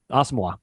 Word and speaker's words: Asamoah: They played Asamoah. That's how we're pronouncing it now.